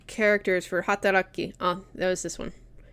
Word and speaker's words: 働き: 働き Hataraki. That'd be hataraki. Hataraki. So this kanji, at least the way it's being pronounced here, is hatara. And then ki is at the end for hataraki.